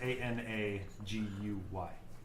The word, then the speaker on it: Anagai: It's pronounced Anaguy, but it's Anagai. but it's spelled different.